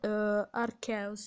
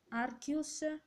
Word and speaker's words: Arceus: un modo per la potete pronunciarlo come volete arceus il sostituto si diceva arcus arceus arcas e poi basta concludo